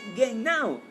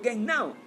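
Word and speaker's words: γεννάω: y ese término griego es genao. Repito, genao, G-E-N-N-A-O. Literalmente así se escribe. Y cuando habla de genao, se está refiriendo a procrear, o en otros términos, a regenerar.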